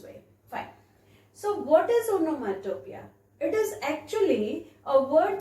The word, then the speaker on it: onomatopoeia: have written on nomantopia i have written the pronunciation also see it is onomatopoeia all right so if i see here this